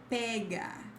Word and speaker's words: pega: Then pega with an open E.